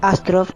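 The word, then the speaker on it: Остров: Ostrov en ruso, que en realidad se pronuncia Astrov, significa isla.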